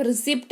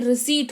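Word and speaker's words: receipt: खुद भी सही करो, उनको भी सही कराओ कि भाई साहब रिसिप्ट नहीं रिसीट होता है, ठीक है।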